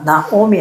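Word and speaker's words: נעמי: 이인데 여기에 나오미 할 때 여기 있잖아요. 요거는 특이하게 있잖아요. 요 오 발음으로 읽어요.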